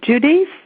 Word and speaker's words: Judice: Professor, the last name is Judice. It rhymes with Denise, Bernice, Maurice.